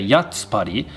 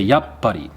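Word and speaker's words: やっぱり: a pause there and we wouldn't actually pronounce the sound tsu but we just pause when we hit it so we don't say yatspari we say yup buddy i'm going to dive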